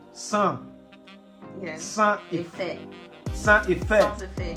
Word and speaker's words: Sans: Sans. S is silent. Sans.